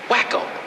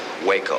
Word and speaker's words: Waco: just being good friends wacko it's not what they call you no no that's that's um Waco you know with a long a like the town whenever they find you